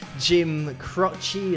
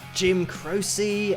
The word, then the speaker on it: Jim Croce: in my video because I cooked Jim Croce is how I pronounced it first of all and then people said is Jim Crow see and I say this